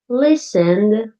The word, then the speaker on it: listened: looked but listened ends with a D sound less strong than looked. Can you hear the D? Listened.